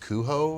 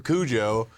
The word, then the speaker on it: Cujo: Uh I think Stephen King originally was supposed to be pronounced cuho or something like that. It was supposed to be pronounced differently. Okay. But then the movie came out and they called him Kujo. And even Stephen King's like, "Yeah, his name's Kujo now."